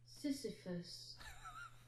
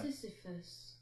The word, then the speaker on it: Sisyphus: Sisyphus. Well, there you go. You know what? Do you know where I pronounced it from?